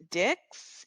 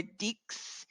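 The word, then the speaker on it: dix: is D this D so again it's making more of a s sound we're not saying the X we're not saying dicks or di we're saying D okay now let's move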